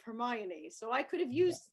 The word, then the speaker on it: Hermione: Now, obviously, I'm not British, and I read the Harry Potter series, and I thought her name was Hermione instead of Hermione, so I could have used that.